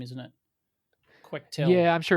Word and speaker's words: Quectel: But because of that, I actually got a evaluation board from Quectel, which I found out is pronounced Quectel and not Quectel, Quectel.